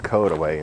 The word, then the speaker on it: Courtois: you're not a local CIS is pronounced kway in Missouri I'm not sure if